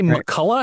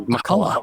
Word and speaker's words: McCullough: Do you say Makulla? Am I saying your name right? You are saying it correctly. Makulla.